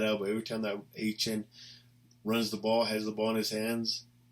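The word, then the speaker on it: Achane: the rookie running back, Achan, because he doesn't want to pronounce A-Chain, so I think it's Achan, whatever.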